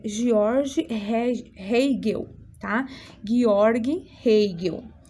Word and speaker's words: Georg Hegel: Georg Hegel é a pronúncia correta do nome dele.